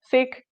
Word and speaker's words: Sikh: I'm also going to say Sikh instead of Sikh. Sikh is the correct phonetic pronunciation.